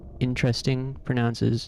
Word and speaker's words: interesting: Interesting stresses the first one.